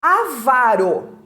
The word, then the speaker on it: avaro: aqui muito bem o avaro avaro é palavra paroxítona erradamente pronunciada como uma proparoxítona é umas pessoas dizem